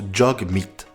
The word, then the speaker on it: Jagmeet: D'ailleurs, son prénom se prononce Jagmeet.